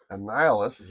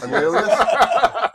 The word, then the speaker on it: Annihilus: Annihilus. Yeah. Is that how you pronounce it? Yeah. Are you sure it's not pronounced something else? Nope. Okay. And Helios? No. Annihilus. Annihilus?